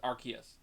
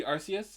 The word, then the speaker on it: Arceus: Legends Arceus and yes that is the actual pronunciation it is Legends Arceus it was it do did used to be Arceus as that's how you it would sound it